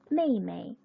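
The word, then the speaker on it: 妹妹: 첫 번째 여동생이란 단어가 나왔는데 가족 호칭을 이야기할 때 동일한 한자를 두 번 반복하고 뒤에 나와 있는 이 그 발음 같은 경우는 경성으로 읽는다 라고 말씀을 드렸었죠. 여동생 메이메이, 메이메이라고 합니다.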